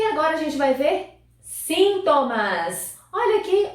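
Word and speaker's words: síntomas: a gente vai ver sintomas olha aqui outra palavrinha com a sílaba tônica diferente sintomas nós temos sintoma em português e esse sintoma é espanhol então agora vamos ver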